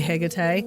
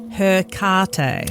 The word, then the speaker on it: Hecate: last week we did I say Hecate. Mhm. I say it and I'm still Australian I mispronounce most things anyway. Um, the Americans say Hecate.